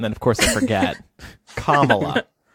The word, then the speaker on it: Kamala: Kamala. That's easy to remember because calm and then like Pamela. Kamala.